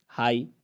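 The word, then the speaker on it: high: हाई, ऊंचा, इसमें भी खामोश है।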